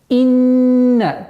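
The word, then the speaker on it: إِنَّ: Инна. То же самое правило, которое мы говорили с вами. Если слово начинается с хамзы, и в особенности если касра, то нужно максимально четко, ясно произносить касру. И инна.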